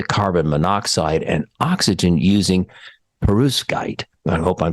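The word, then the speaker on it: perovskite: reduce it to carbon monoxide and oxygen using perus guide I hope I'm saying that right I practiced it a couple times material made of crystalline mineral latticework so peruv skite and that's spelled p-e-r-o-v-s-k-i-t-e okay so perus guy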